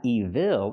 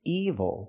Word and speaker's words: evil: use this word evil again it's not evil it's evil the stress is on the first syllable and I can say